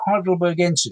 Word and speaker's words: Heidelbergensis: Named Heidelbergensis. So Heidelbergensis.